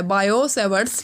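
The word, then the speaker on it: Biot–Savart: ठीक है, इसको आप बोलते हो बायो-सेवर्ट्स लॉ। ठीक है, ये टी कैपिटल क्यों लिखा है यहाँ पे, क्योंकि इसमें टी होता है वो क्या होता है, साइलेंट होता है, बायो-सेवर्ट्स लॉ।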